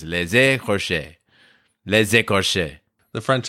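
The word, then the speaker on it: Les Écorchés: And then I remembered that if there's an E at the beginning of the second word, then you pronounce the S at the end of the first word. So it's les écorches.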